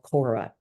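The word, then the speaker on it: khora: Plato came up with this term called Kora k h o r a sometimes it's spelled c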